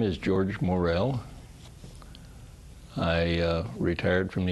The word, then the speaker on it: Morrell: s so we get your name pronounced correctly um well my name is George Morel I uh retired from the University about 15